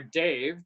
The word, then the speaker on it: Dav: Dav Pilkey, or Dave, depending on how you want to pronounce his name, Okay.